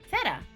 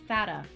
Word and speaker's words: Fata: Feta. Oh, it's pronounced like it has a capital A. Fata.